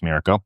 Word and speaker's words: Miraco: They have the Miraco, or Miraco, I think it's pronounced Miraco, the Miraco Pro, and then this is their top-of-the-line Miraco Plus.